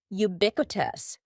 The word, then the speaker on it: ubiquitous: Next, don't be fooled by the first letter U. We pronounce it with a Y sound, ubiquitous.